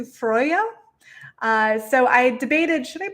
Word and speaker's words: Freyja: i'm using the term freya um the pronunciation but that's not really the correct pronunciation it's closer to freyja so i debated should